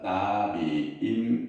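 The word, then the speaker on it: נביאים: 예언자라는 말 말에서 그를 이란 말은 나비임 이렇게 발음이에요 나비임 나비다 이런 뜻이에요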